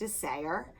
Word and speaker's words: Isager: It's Isager, and it's pronounced Isager.